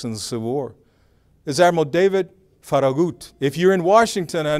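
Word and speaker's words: Farragut: Hispanics and the Civil War is adal David faragut if you're in Washington I know my dear friend okas uh we we we use the Metro when we stop at faragate station it's not faragate station it's faragut so a Spanish a Latino said that phrase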